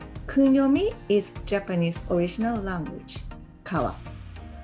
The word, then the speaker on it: 川: Kunyomi is Japanese original language, kawa. Onyomi comes from China and stay as a Chinese pronunciation, sen. So kunyomi, kawa. Onyomi, sen.